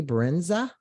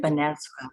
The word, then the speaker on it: Benezra: It's Under the Blossom, and we have Brenza. Am I saying it right? Benezra, Benezra. Benezra.